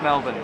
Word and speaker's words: Melbourne: Yeah, so we know it's Melbourne.